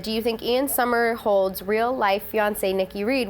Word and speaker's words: Somerhalder: It's Somerhalder.